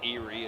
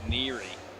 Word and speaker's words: Neary: It's not Nick Erie, it's I think it's Nick Neary. Neary.